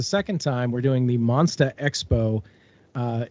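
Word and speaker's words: Monstah: time we're doing the monsta expo uh that is spelled m-o-n-s-t-a-h because it's it's in massachusetts so it's got to be hilarious so it's the monster monsta expo just xpo and it's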